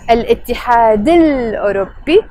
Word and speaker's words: الاتحاد الأوروبي: So الاتحاد الأوروبي, which we will pronounce with a liaison. الاتحاد الأوروبي.